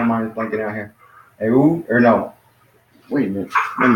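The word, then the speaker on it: ου: Yeah, so that's pronounced as oo.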